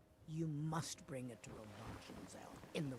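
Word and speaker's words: Avanchnzel: You must bring it to Avanchenzel in the... Avanchenzel, that's how it's pronounced.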